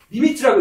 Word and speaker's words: lim: n이 있는데 그 n이 리미트라고 읽어요.